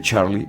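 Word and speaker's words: Txarli: mucho, que es de Charlie Usher. Charlie Usher. Es que se escribe muy raro su nombre. Es como T-X-A-R-L-I. Es como Charlie.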